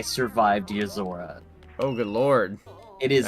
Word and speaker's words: Yozora: Is that what it's pronounced? Yozora.